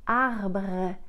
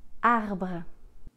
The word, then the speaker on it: arbre: Notre deuxième mot, c'est un mot qu'on pourrait penser facile, mais il est plus compliqué qu'il n'y paraît, à cause des R. C'est le mot arbre, tree, arbre.